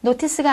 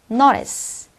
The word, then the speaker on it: notice: 우리가 플랩 현상이라고 합니다 자 그래서 티가 모사에 끼면 약간 부드럽게 그죠 유화시키는 연습을 해 주시면 되겠네요 자 한번 읽어 보도록 하겠습니다 노티스가 아니라 notice 두 번째 어떻게 it